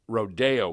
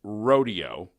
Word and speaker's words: rodeo: and television people to pronounce Rodeo correctly it isn't Rodeo it's Rodeo and radio announcer red Blanchard